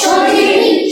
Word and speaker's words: সঠিক: এটা দৈর্শকের সঠিক করা যাবে না শীনের মত উচ্চারণ করা যাবে না বলতে হবে কি শিনের মত তালা বস শীনের মত সঠিক বলো সঠিক সঠিক সঠিক সঠিক সঠিক সঠিক এবার দেখো ম